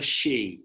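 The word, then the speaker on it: Hsi: He became known, this character, as Pastor Shi. I think that's how you say it. It's spelled H-S-I, Pastor Shi.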